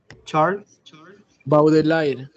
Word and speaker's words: Charles Baudelaire: Charles Baudelaire. Correcto, tal como se pronuncia, ¿no?